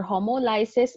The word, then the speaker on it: homolysis: a lot of that I have heard that it may be pronounced as homolysis or homolysis. I prefer homolysis because it gives emphasis on the word lysis and it reminds you that this involves a breaking.